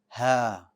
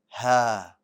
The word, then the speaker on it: ه: to learn is ha it's pronounced as the following ha ha ha very good the letter ha is light means the back of your tongue is going to stay flat and another thing about